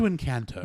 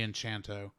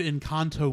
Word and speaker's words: Encanto: Yes, back to Encanto. Back in Encanto. Or Encanto. Yeah, however you pronounce it. Or Enchanto. I don't know. All right, so actually, there's no H, so I can't say Enchanto.